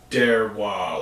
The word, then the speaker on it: Deroir: A YouTube streamer, Derwa or something like. I don't know how exactly how to say his name, but DEROIR. I just Derwa like Noir.